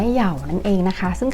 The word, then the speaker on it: YAO: กับ แปลง หมี ผม ของ เยาว หรือ ว่า ออก เสียง ว่า เหย่า นั่น เอง นะ คะ